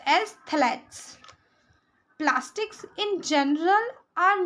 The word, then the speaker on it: phthalates: तो दो सबसे खराब जो टाइप के प्लास्टिक्स है वो है PVC एंड phthalates, pronounced as phthalates.